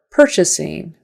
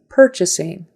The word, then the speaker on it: purchasing: an ER per per purchasing purchasing and syllable stresses on the first the first one the first syllable Department Department syllable stresses